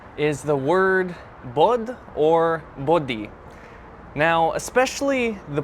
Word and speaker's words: bod: So the singular form is bod. Maybe not pronouncing it the best, but like bod, something like that. And plural would be bodji. So it sounds like the English word body, but it's not meaning body.